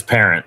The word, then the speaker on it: Parent: It is Parent, just by the way.